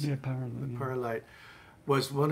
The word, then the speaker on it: PyraLight: And Guy, I have other things from Guy, and the PyraLight, is that how to pronounce it? Yeah, PyraLight.